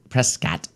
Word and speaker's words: Prescott: We went to we had a Prescott trip, and we went up to we went up Prescott. Prescott. That's what the locals call it.